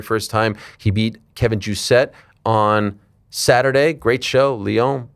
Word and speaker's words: Vallejos: So is the double L like a J? Kind of, yeah, ja. Yeah, so it's Vallejos.